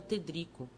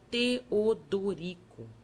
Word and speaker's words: Teodorico: o padre triste perguntou-me o meu nome que eu pronunciava tedco o outro amorável mostrando os dentes frescos aconselhou-me que separasse as sílabas e dissesse Teodorico depois acharam me parecido